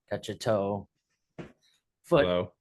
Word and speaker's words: Cacciottolo: Uh Kachato like Kattolo. Uh to like catch a foot low.